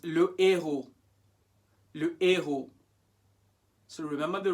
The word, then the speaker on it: le héros: This one, le héros or l'héros? 5 seconds. It's le héros.